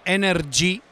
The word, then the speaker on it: EnerG: Si chiama EnerG con la G finale pronunciata con l'accento. Quindi diciamo. Non c'è la Y, ma no. La G si pronuncia come la lettera dell'alfabeto italiano.